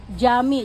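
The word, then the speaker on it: Cami: Jami. Jadi C itu dibacanya J kalau nggak ada koma yang gantung itu ya.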